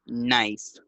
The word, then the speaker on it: knife: This one, knife, knife. La pronunciación de esa palabra es un poco difícil, ¿ok? La K al inicio no se pronuncia, ¿ok? Y se dice knife.